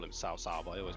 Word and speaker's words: Cao Cao: Cao Cao.